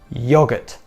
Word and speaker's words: yoghurt: good luck and finally yogurt yogurt again this word has too many letters that silent H is in there it's not yogurt it's yogurt yogurt okay that's it for